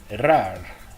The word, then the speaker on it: raar: The R is pronounced er in the alphabet, and in this word, raar, if you're good at rolling the R. Some dialects will not pronounce the r, the rolling part of the R. They'll just say raar instead of raar.